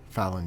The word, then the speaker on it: Phelon: But if he's not Fallon? good, then we don't want to get close. Did I say it right, Fallon? Who are You mean Vethra? No, your mom. Fallon, yes.